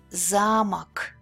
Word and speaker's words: замок: The misplace of the stress could affect the change in the word meaning. Замок, замок. As you can see, these